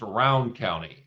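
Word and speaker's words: Rowan County: We pronounce it round. Really? I never knew you guys pronounced it different. It's pronounced Round County.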